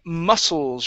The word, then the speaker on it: muscles: to uh the word muscles right here mus the c in this word is silent does not make a sound okay so it's only going to be a unvoiced s mus muscles muscles muscles there